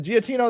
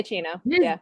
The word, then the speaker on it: Giacchino: Michael, is that Giacchino is how you say his last name? Yeah, Giacchino.